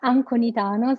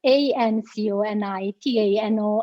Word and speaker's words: Anconitano: It's Anconitano, so it's Anconitano, and basically it's Anconitano. So you don't change the A in E.